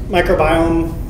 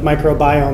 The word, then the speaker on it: microbiome: I find it unfortunate that we've adopted this pronunciation of microbiome, and I think the meaning is more clear if we would say it as microbiome, which links it more clearly to genome and proteome and metabolome.